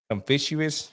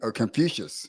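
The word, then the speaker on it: Confucius: And I'm going make sure I pronounce the guy's name right. Confuous. I think I said it right. But but yeah, man. So, I just kind of been Oh, you mean Confucious?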